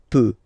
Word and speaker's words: peux: So je peux. Okay, final x not pronounced here. Okay, so you've got the x but you don't pronounce it. So basically you get the sound peut, peut, je peux.